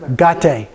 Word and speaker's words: Gate: And then we have Gate. So A for the A and Te and A for the E. Okay? Gate.